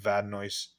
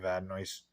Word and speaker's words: Vadnais: The most recognizable name I saw, with the exception of Vadnais. I think that's how you say it, Vadnais.